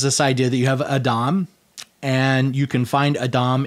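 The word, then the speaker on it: אדם: So Adam, which is, that's basically how it would be pronounced more or less in Hebrew.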